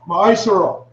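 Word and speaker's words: מעשר: verses 8 to 10 means 10 in the Hebrew and is pronounced my surah 10% of every penny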